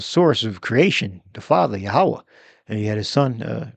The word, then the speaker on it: Yahweh: They pronounce the wa with a V sound. That's much modern. The ancient way, the proper way is Yahweh. You would say wa. Yahweh.